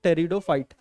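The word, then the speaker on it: Pteridophyte: इसमें P silent होता है, इसको पढ़ते हैं हम लोग टेरिडोफाइट।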